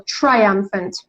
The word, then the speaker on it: triumphant: a triumph triumphant yeah strategy on the second syllable triumphant triangle t t r i u m p h a n t triumphant triumphant you know that when we have